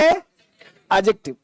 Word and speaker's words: adjective: ध्यान दे बेटा कि इसे एडजेक्टिव नहीं पढ़ना है बताया था ना इसे पढ़ना है एडजेक्टिव डी को नहीं पढ़ना है डी जो है ना साइलेंट हो लिखाए डी पढ़ाए नहीं तो क्या पढ़ेंगे एडजेक्टिव पहला